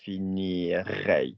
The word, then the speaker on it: finirai: If your verb is one of the other types, so finir, You don't say finirai, you say finirai. You literally join it on.